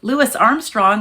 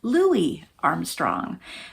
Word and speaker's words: Louis Armstrong: Lewis Armstrong I had always thought was said Louis Armstrong.